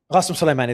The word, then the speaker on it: Qasem Soleimani: And when it comes to retaliation, we saw limited retaliation, if any, when Suleiman Qasemi, what can you pronounce it? Qasemi. Qasem Soleimani. Qasem Soleimani, there you go.